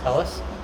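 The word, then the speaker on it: Talus: i think it's pronounced i was calling it tallest but apparently that's wrong right that's right tell us so they're two of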